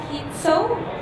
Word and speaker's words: Kitco: This fireside chat today will be moderated by Michelle Makori, Editor-in-Chief, Kitco News, and David Lin, Anchor at Kitco. By the way, is it right, Kitco? Or how should I pronounce it?